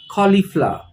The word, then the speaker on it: cauliflower: in english it's cauliflower again the stress is on the first part of the word cauliflower cauliflower now comes the most